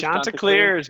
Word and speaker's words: Chanticleers: Chanticleers? The Chanticleers, baby.